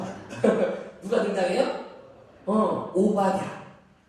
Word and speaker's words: 오바댜: 오바댜. 오바마가 아닙니다. 우리 사무실에 얘기했더니 오바마로 알았다. 세상 속의 리더십 오바마. 오늘 못하고 쓰겠는데 오바댜예요. 자, 그렇다면 왜 엘리야보다 우리는 이 오바댜를 더 주목해야 할까요?